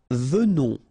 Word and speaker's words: venons: Nous venons. Okay, so final S not pronounced, and then remember that you pronounce this like a the, venons. Okay, O-N in your nose, on, venons. Nous venons.